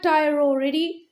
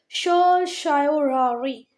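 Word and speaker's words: certiorari: सर शूरोरिया, वैसे actual pronunciation इसका है, हम राइट स्पेलिंग के लिए ऐसे भी पढ़ लें सर टायरोरी तो भी ठीक है, पर बाकी जब इसका गूगल पे प्रोनाउंसिएशन देखोगे तो क्या आएगा? शायोरारी।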